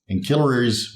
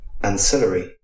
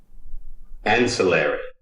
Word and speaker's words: ancillary: So for this word, Ancillaries, which is of course incorrect, I will take a sip. You don't have to join me yet. Let's go over the correct medical pronunciation. Ancillary. That's in English. Ancillary. And that's in American. So there's a little bit of a discrepancy here, but I'm going to go with the American pronunciation and say ancillary. Ancillary.